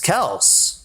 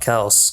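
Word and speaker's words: Kelce: you're doing this on purpose but you're properly pronouncing Travis Kelsey's last name I it is Kel I looked it up when I was it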